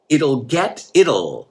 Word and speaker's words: it'll: So then I said, it'll. Vamos a pronunciar eso. It'll, like Italy. I always think of Italy.